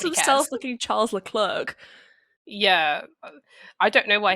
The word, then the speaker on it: Leclerc: looking Charles Leclerc.